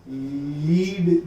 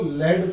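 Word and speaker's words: lead: जैसे कि एक प्रोनाउंसिएशन है लीड, जो है स्पेलिंग तो लीड है PB, है ना, लेकिन हम प्रोनाउंस क्या करते हैं उसको? PB को लेड प्रोनाउंस करते हैं, है ना। इसको हम क्या कहते हैं? लेड। इट इज नॉट लीड।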